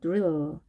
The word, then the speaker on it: drill: drill. 네, 옆으로 길게 늘려주시기 바랍니다. 네, 8개의 단어를 정확하게 발음 연습하시고요.